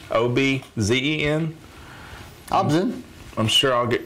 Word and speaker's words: ObZen: This is from an album called, I think it's pronounced Obzen, O-B-Z-E-N.